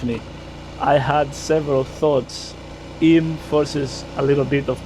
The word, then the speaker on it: Eyam: The right turn into written I am pronounced in because English place names are apparently designed to be a national outlander detection system.